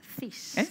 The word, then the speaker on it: cis: Cis.